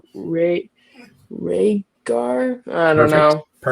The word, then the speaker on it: Rhaegar: Um I don't know how to say his name, but it's like Ray Rhaegar. I don't know. Perfect. Rhaegar.